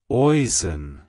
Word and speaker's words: Oisin: It's pronounced as Oisin. Oisin. Oisin. To pronounce it correctly, emphasize the osh sound and use a soft een at the end.